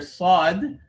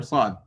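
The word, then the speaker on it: ص: sound for the letter sod when pronouncing the sod the back of the tongue gets raised to create that heaviness if you don't raise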